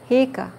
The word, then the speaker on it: Hika: Hika. Hika. Hika. Hika. Hika. Hika. Means no, okay? Two eyes together.